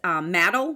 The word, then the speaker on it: Maddle: I think that was from perhaps the newest candidate in the race, Maddle, rhymes with paddle.